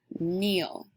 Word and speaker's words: kneel: And finally, we have 2 words with that tricky N sound because these words are spelled with the letters K-N together. Knit, K-N-I-T, knit, and kneel, K-N-E-E-L.